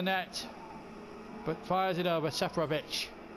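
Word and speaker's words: Seferović: Safranic with a golden opportunity from no more than 8 yards out to put the ball into the net, but fires it over. Seferovic. It's the correct pronunciation, I'm told.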